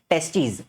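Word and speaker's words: testes: एक रहेगा तो टेस्टिस दोनों रहेंगे तो टेस्टीज़ बोलने में भी फर्क है। ठीक है? प्रोनाउंसिएशन में भी फर्क आता है।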